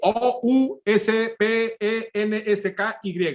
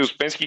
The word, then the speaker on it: Ouspensky: Se escribe O-U-S-P-E-N-S-K-Y.